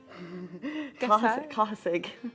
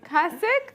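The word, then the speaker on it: Cathasaigh: So my name in Irish is Cathasai? Cahasig. Cahasig? Cahasig. How does that even, it's literally like Cathasig. How is that? Cahasig.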